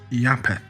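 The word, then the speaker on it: Japheth: Both originally being pronounced uh Yapitos and Yapetth, an obvious transliteration from the Greek into the Semitic word.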